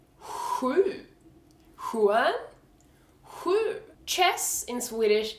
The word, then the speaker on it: sju: So the number 7 is sju. And this is basically the same sound as skjorta, sju. Skjorta, sju. Except skjorta is spelled SKJ. Sju is just spelled SJU.